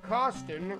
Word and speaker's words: Costin: And for Costin, rhymes with Boston.